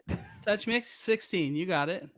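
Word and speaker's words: TouchMix-16: Touch Mix 16. You got it. Touch Mix 16.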